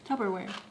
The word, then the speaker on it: Tupperware: Tupperware. Say the first syllable. Tub. Wrong. We put it in a Tupperware and stuck it in the fridge.